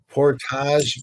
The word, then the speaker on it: Portage: we're going purchasing reported Portage is the way I believe it's supposed to be pronounced Portage Fairway back into the